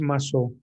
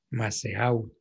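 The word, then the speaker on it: Mazeaud: Para los Massot, Masseau, se escribe con Z, Masseau.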